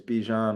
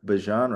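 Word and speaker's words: Bijan: Unless your name is Bejan Robinson or Bjan Robinson as uh he is formerly uh rebranded. Um, or maybe we're just finally getting it. Um, as white Americans, we're finally understanding how to pronounce his name because we're not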